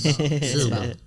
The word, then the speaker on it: Shelbyville: You It's in- got to it's in- run the syllables together. It's Shelbyville.